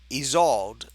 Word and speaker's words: Isolde: The S sounds like it's a Z. Okay, so Isolde.